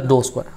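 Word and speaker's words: ∂: square u by dou x square, it is pronounced as dou square, okay, or short notation is uxx or fxx, or I can also write this one as p, q and r.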